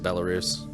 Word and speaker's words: Belarus: By the way, it's pronounced Belarus.